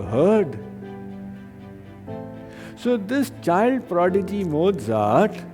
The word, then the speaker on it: Mozart: Actually, in German, it's pronounced Mozart.